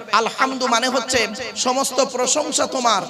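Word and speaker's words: ٱلْحَمْد: বলছি উচ্চারণটা ঠিক করুন আলহামদ গলার ভেতর থেকে এটা উচ্চারণ করবেন আলহামদ মানে হচ্ছে সমস্ত প্রশংসা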